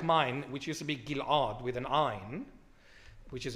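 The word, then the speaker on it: Ghil'ad: oh can you pronounce gil g usually it's gilad as if it's j gilad gilad yeah but it's Gil the Greeks took the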